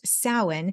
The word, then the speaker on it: Samhain: briefly so it is spelled s-a-m-h-a-i-n but it's pronounced Salin and it is the it's a harvest celebration